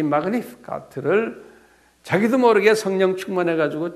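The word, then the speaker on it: Magnificat: 마그니피카트라고 그래요.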